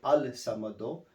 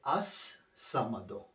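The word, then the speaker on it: ٱلصَّمَد: And then you have this word as-samado. When you say al-samado, right? Yeah. When you recite together, and then you have to chop this one down. You do not say al-samado. You say as-samado.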